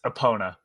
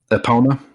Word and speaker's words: Epona: they call it mario hey mario it's it's epona epona yeah okay so uh according to this woman